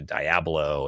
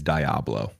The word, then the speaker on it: Diablo: as a family, and they got me into Diablo and all of the Blizzard games. I'm sorry, Blizzard. Real quick. Two things. One, love that you played StarCraft together. Two, what is Diablo?